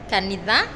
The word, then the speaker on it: kanitha: Church in kikuyu so how do you say that you say Canada yes just that church is called kanitha in kikuyu and I know we